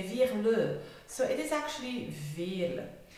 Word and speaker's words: Veerle: Well, it is Veerle. It's a typical Flemish name, it's very common. But to say that in English, most English people who speak English, they say Veerle, and the French ones, they say Veerle.